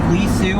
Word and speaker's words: Li Si: There is this man named Li Si. Sometimes it's pronounced Li Su. I don't speak ancient Chinese, so Li Si.